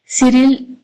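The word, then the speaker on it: Cyril: सो इसे हम कैरली की जगह पे सिरिल डेबिडिन ऐसे भी पढ़ सकते हैं। सो सिरिल इज the correct pronunciation according to मी।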